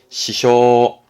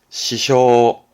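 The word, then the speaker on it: 支障: 발음은 시쇼, 시쇼.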